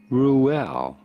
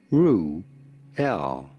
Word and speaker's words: Reuel: How do you go about pronouncing it? Reuel. Reuel. Reuel.